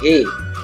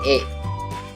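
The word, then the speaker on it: へ: and he ya tapi e dari cut kowe iki Mas congek imasta ucie Christmas jakaruta e-gigi Mas jadi eh iya bacanya e bukan Hei tapi e Oke kita lanjut ke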